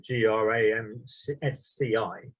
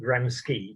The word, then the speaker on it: Gramsci: individuals one is antonio gramsci that's spelt uh g-r-a-m-s-c-i so i often pronounce it gramski but my italian friend always corrects me it's